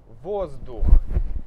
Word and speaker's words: воздух: Воздух. Здесь «з» мы не меняем на «с», не меняем. Почему? Потому что «д» — это твердый звук, hard sound.